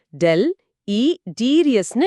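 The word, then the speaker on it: deleterious: நிச்சயமா அந்த மாதிரி தீங்கு விளைவிக்கிற விஷயங்களை டெலிடீரியஸ் அப்படின்னு சொல்லுவாங்க. டெல் இ டீரியஸ்னு இத உச்சரிக்கணும். ஹாம்புல் இல்லனா டேமேஜிங் அப்படிங்கறது இதோட சினோனிம்ஸ்.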